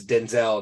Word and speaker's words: Denzel: make sure you say that it's Denzel not Denzel okay you can say